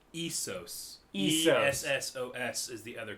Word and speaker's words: Essos: No, it's Essos.